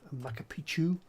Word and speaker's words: Machu Picchu: But I do wish I'd gone to Peru and was able to visit Machu Picchu, so that's how you say it.